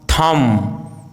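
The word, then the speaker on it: thumb: यदि किसी वर्ड में एम बी या बी टी साथ में हो तो बी का उच्चारण साइलेंट होता है, जैसे bomb, com, Tom, lamb, climb, डम, थम, प्लमर, डेट, डाउट, शटल।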